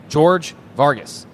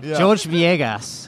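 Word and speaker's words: Jorge Viegas: Eli is beside himself with laughter talking to George Vargas.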